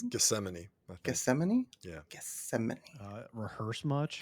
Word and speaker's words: Gethsemane: work no that's not how you pronounce that Geth it's Gethsemane geeman yeah Gethsemane rehearse